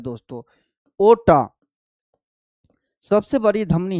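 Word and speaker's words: aorta: ओटा सबसे बड़ी धमनी है जिसको हम बोलते हैं ओटा। ओटा बोलते हैं। ठीक है? आर साइलेंट होता है।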